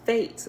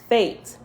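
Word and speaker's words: Fete: this one by now is fate but it's spelled f-e-t-e fate sign of sanctification Panic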